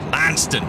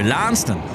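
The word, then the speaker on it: Launceston: where I'm from in the UK which is pronounced lanston lanston yes we always seem to say that on the show lanston well that's that's how it's pronounced in corwell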